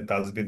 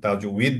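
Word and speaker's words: تجويد: আমরা তাজবিদ বলে থাকি, আসলে তাজবিদ উচ্চারণটা সঠিক নয় মনে হয়, আপনি বলবেন আমাদেরকে। আমরা যেটা শিখেছি আর কি, সেটা অ জের দিয়ে তো হলে সেটা উই দ্বারা উচ্চারণ হয়, যার কারণে এটাকে তাজউইদ বলা উচিত।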